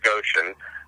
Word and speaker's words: Goshen: Probably because my life in, and it's pronounced Goshen, my life in Goshen was so narrow.